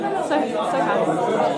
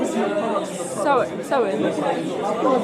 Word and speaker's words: Sohan: Sohan. Yeah, don't say the H though. Sohan.